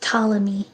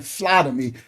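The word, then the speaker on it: Ptolemy: Um, it's pronounced talamy. Oh, talammy. Thank you. Thank you for that. Well, yes, correct me. Yes, I keep saying flaty cuz I'm a Hebrew.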